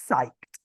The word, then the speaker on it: psyched: are you psyched about you pronounce it psyched are youed about psyched the p is just completely silent are you psyched and